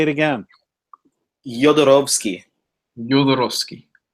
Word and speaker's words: Jodorowsky: Jodorowsky. Jodorowsky. It's a soft J, and the W is like a V because he's from Chile, but his father is Polish.